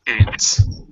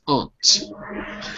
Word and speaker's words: aunt: Ben by the way two pronunciations for any American English is aunt and British English is aunt and oh so we've